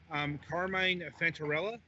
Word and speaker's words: Carmine Fantarella: And this week we have, forgive me if I mispronounce this, Carmine Fantarella.